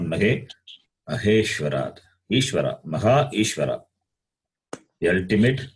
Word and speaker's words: महेश्वरात्: Here also it is Maheshwarat, not Mageshwarat, not Ge.